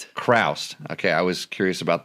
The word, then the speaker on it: Chroust: I'm sitting here with Gabe and your last name is Krast. Crraust. Okay. I was curious about the pronunciation of that.